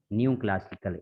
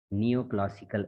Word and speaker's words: neoclassical: you were pronouncing new, new classical. It's not new, beta. It's neoclassical age. Okay, NEO. It would be called as neo.